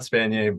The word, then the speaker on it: Spanier: yeah it's uh spanier but phonetically it makes no sense so s-p-a-n-i-e-r I'm not cheering there's no yay at the end of my name uh but yeah LinkedIn